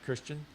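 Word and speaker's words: Kristján: concerned I was like okay it's Christian but it's spelled differently and it's probably got some accent and I'm like so how do you say your name Christian okay well that's easy but then we were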